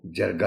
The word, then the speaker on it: جرگہ: ہندوستان میں پھیلا۔ جرگہ، یہ لفظ لکھا ہوا تو جرگہ ہے، ویسے اس کا جو اردو میں صحیح تلفظ ہے آنریبل ٹیچر وہ جرگہ ہے۔ ٹی وی میں بھی ایک پروگرام آتا ہے، اس میں بھی جرگہ ہی کہا جاتا ہے، درست لفظ اس کا جرگہ ہے۔ اور یہ جرگہ ایک